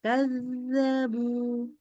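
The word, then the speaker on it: كذّبوا: Kazzabu. Yang kanya ya, Us. Zalnya. Kan zalnya tasdid. Kazzabu. Jadi nggak boleh putus, nggak boleh. Kazzabu. Nggak boleh. Ayo ya, seperti itu. Coba. Kazzabu.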